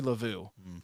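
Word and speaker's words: Luvu: how's he saying it uh like love you or lavu I think it was Lau Frankie lavu I was like man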